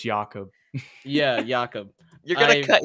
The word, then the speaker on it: Jakob: But he's Austrian, so it's Jakob.